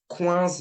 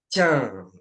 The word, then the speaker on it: quinze: Don't pronounce it quinze, but 15.